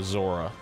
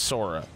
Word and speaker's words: Sora: And massive psychic damage for calling Sora Zora. Like, right. Just he knows his name's Sora. He's just doing it. He's just doing He's it. Just saying it wrong.